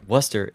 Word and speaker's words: Worcester: place called Worcester pronouncing Worcester in the UK got it Worcester Worcester I mean there's an r in the spelling of the word okay so we're all clear we all ignore the r but waster completely knows